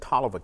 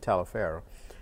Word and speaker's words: Taliaferro: Some people said Toliver County but we pronounced it Taliaferro.